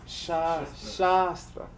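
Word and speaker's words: शास्त्र: Sa Be careful. Shastra. Yeah, Long A.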